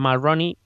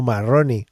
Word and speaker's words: Mulroney: Me mola que se suene como Marroni, ¿sabes? Como que ya... Bueno, es escrito Brian Mulroney. Vale. Que entendió Marroni. Mulroney.